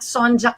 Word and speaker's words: Sonjia: our beautiful guests okay i'm on instagram at sonja so s o n j i a